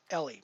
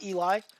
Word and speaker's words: Eli: that my name is Ellie my name is not Eli and you know pronouncing it Eli is wrong and I've heard him